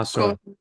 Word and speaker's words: Ausar: how do you pronounce your Discord username? Yeah, oh sorry. Cool. Ausar.